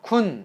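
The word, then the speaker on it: คุณ: 표현 이고요 다음 국내에서 쿤 이라고 짧게 평성 으로 발음 해주시면 당신이라는 대명사 또는 꾼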